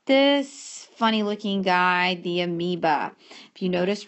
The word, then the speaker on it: amoeba: clear our amoeba occasionally you may see this written without the o either way it's still pronounced amoeba you have the parium